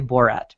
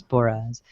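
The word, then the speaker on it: Boras: So offensive coordinator Frank Signetti was let go on Monday, and Rob Boraz, I believe is how you say his name. I always want to say Borat, but it's Boraz.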